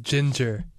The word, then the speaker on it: Jinger: like to point out jinger is pronounced ginger ginger yeah jinger is that